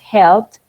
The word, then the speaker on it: helped: Nosotros no decimos helped, decimos helped, con la T, que se sienta.